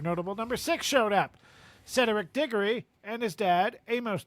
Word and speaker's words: Cedric: I'm hearing three syllables. Okay. I'm hearing you say Cedric like rhetoric.